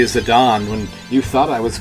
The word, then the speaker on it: Zidane: Need to hook up Zidane. I'm still flipping back and forth. Now that I've decided that Zidane is the correct pronunciation, and yet I'm still totally used to calling him Zidane.